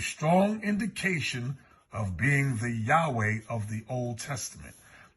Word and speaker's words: Yahweh: indication of being the Yahweh of the Old Testament I was taught the pronunciation is yahwah but we know it's